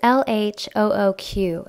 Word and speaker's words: LHOOQ: Now, if we try to pronounce that phonetically in English, it almost sounds like look, right? Like he's telling us to look. And apparently, if you pronounce it letter by letter in French, it makes out a sentence that basically means she's got a hot butt, right?